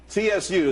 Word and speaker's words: Tsu: Tsu, TSU, it's pronounced Tsu though.